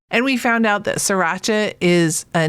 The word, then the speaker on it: Sriracha: Yeah, well, certainly popular with the hipsters around here, but they might have opinions on the Sriracha. I found out that the first R is silent.